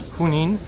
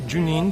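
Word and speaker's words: Junín: uh Street here j-u-n-i-n as I pronounce it in Spanish hunnin not Janine but Hunan and just advice friendly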